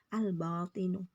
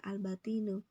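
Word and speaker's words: الباطن: sudah sudah jelas ni albatinu tetap dibaca albatinu nah Berarti itu dia alqomariah jangan bingung alqomariyah karena apa al-nya kebaca jelas enggak mungkin ini kamu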